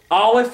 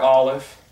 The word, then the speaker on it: Aleph: we did, has no, Aleph is silent. It makes no sound. But Aleph, like the letter Ayin, it's given a sound by the vowel marks.